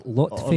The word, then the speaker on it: Lotfi: It's not Lofty, it's Lotfi.